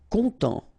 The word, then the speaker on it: content: Content. Final T not pronounced, so N, en as well.